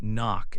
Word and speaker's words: knock: Other words with this pattern include knee, knock, and knob. Remember, the K is quiet at the beginning of these words.